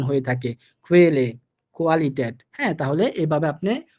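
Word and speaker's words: Qualle: যে উদাহরণ দেখেন, এখানে উচ্চারণটা হবে, প্রথম যে উদাহরণটা এটার উচ্চারণ হবে খুয়েলে, খুয়েলে, অর্থাৎ হালকা কেবি এর মতো করে উচ্চারণ আসতেছে এই ওয়ার্ডটাতে।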